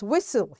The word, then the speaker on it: whistle: This is silent T and the word is whistle. Here T is silent.